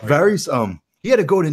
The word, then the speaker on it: Varys: I'm going with Varys, like two E's. Yeah, like Varys.